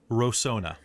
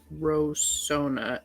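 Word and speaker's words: Rosohna: the city was called before uh so he pronounced it horribly uh but it is rosona rosona of the so it was the crin capital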